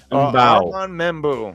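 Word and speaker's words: Armand Membou: Armand Membu.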